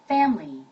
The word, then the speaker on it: family: family, family, family, family, family, family, F 발음이죠? 예, P 발음이 아니라 F에서 윗니가 아랫뉴스를 긁어야 됩니다. family, 밀리가 아니라 소리 약간 들어가요. family, 앞에가 강세 억양이 들어가죠?